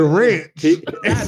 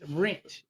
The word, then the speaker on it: wrench: You said ranch. Not ranch. Wrench.